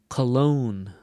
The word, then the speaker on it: cologne: the syllable stress so the difference between the words colon or cologne colon cologne where do you hear the stress in the second word okay it's going to